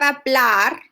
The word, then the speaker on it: hablar: Matador, it doesn't end in S, N, or vowel. So the stress is in the last syllable, okay?